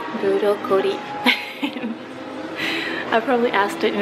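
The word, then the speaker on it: ブロッコリー: Okay, Zoe, I bought you the broccoli washi tape, and I even asked the cashier how to say it in Japanese. And guess what it is? Burokori.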